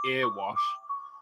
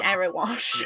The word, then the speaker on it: Erewash: Which, until a couple of days ago, we have been pronouncing earwash. It's Erewash. Yeah.